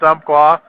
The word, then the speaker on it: Umpqua: qua community college shooting I'm just pronouncing it the way rescue rider did so if i pronounced it wrong he sent him a message not me i guess it's Umpqua that's the way I've always said it before there's all kinds